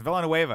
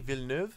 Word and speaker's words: Villeneuve: Villeneuve. You could say it because you speak French, but we couldn't say it. And I thought it was Spanish. I was like, it's Villanueva. And the guys were like, you're a fucking idiot.